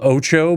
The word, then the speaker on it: OTXO: it called again it's it's called oo but it's spelled otxo okay it actually does look